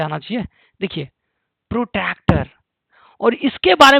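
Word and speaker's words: protractor: वह है यह आपका प्रोटक्टर। देखिए स्पेलिंग कुछ लोग गलत पढ़ते हैं इसको। ठीक है? प्रोटेक्टर यह सब पढ़ते हैं। तो यह है प्रोटक्टर। राइट?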